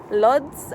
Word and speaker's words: Łódź: visited in poland is luds or wood it's pronounced it's spelled l o d z but i believe it's pronounced like woods or something like that um and it's actually